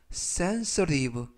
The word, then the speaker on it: sensitive: 이때 알파벳 T가 부드럽게 트가 아니라 르, 그래서 sensitive 라고 발음하시면 되겠습니다. 품사는 형용사, 뜻은 예민한 또는 민감한 이라는 뜻을 가지고 있고요.